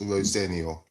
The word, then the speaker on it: Rosenior: My surname is pronounced Rosenio.